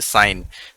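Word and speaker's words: sign: हुए हैं अपने उसमें, जैसे साइन, इसमें जी साइलेंट है।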